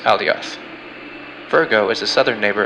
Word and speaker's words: Alioth: Leo's brightest star is pronounced Regulusa, and Ursa Major's brightest star is pronounced Alioth.